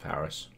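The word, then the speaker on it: PVRIS: Oh, it's pronounced Paris.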